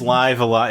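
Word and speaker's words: Live A Live: No, it is Live Alive.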